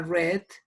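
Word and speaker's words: read: el participio queda igual pero la pronunciación es diferente aquí suena red red y aquí suena ruiz si hay red yo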